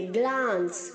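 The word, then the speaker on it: glance: ग्लांस में जो सी है उसे हम एस की तरह साउंड करेंगे, ग्लांस, ग्लांस. ओके. और ई जो है उसे हम साउंड नहीं करेंगे.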